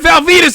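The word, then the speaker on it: Val Venis: And maybe you had Val Venus in there too. Whatever, you had it all. Whatever you could want. You know Val Venus rhymes with penis, right?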